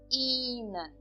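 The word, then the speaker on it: ihnen: que esse e h eu não pronuncio o h nessas três palavras tá eh e também eu eh pronuncio de uma forma longa então eu falo ir in inan por pelo motivo que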